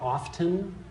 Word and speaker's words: often: T and often but there is no T that's pronounced in often you've heard it often that's look at this